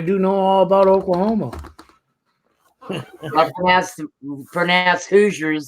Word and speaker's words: Hoosier: know all about Oklahoma Hoosiers the way it's supposed to be pronounced who's her who's your whatever you want to call it h o o s i e r yes who is Hoosier no it's not good